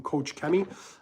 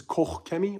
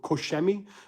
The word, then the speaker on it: Koch Chemie: So my thoughts, a lot of people in the US, I think, call them Coach Chemie. The Germans, I think, correct the pronunciation, is Koch Chemie or Kochemi, one of those two.